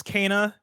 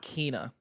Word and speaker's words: Kena: games blessing adioji junior it's kana not kina kana everybody kana the long national nightmare is over we know how to say it kana kana roller skating